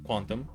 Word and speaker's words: QNTM: by a user named Quantum. It's spelled QNTM, but you know Quantum.